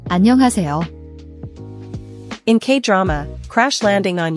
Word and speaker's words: 안녕하세요: The H in is often very soft, almost silent in rapid speech, but when spoken clearly, it's an aspirated H sound. Breathe out like fogging a mirror.